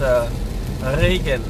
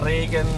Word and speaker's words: Regen: Is it easy for you to pronounce, because that's a German R and it's Regen. It's pronounced in the back, and the Asian R is pronounced in the front. It's Regen in 슬로쿨님 어서 오세요.